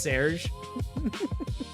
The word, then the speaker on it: Serge: Please tell me it's pronounced Serge. And does anyone know the quote when I say Serge? But the design is from this other designer. It is. Oh my God. It is pronounced Serge.